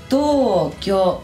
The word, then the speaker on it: Tokyo: Y ahí esa U no suena. No es como la anterior que puedo elegir cuál de las dos maneras. Acá nunca, nunca, nunca voy a decir esa U. Nunca. Siempre va a ser Tokyo. Con respecto a todo esto